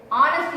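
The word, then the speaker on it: honest: என்ன போடணும் இங்க ஆன் போடணும் அ தவறு அன் போடணும் ரைட் அடுத்தது சுந்தர் இஸ் அனஸ்ட் இங்கயும்ஹ வந்து சைலன்ட் நம்ம உச்சரிக்க மாட்டோம்.ஹ உச்சரிக்க மாட்டோம் சைலன்ட் அதனால நெக்ஸ்ட் பாத்தீங்கன்னா பவர் சவுண்ட்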